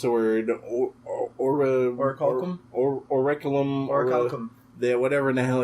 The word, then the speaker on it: orichalcum: So is orichalcum, if I'm butchering that word, I apologize.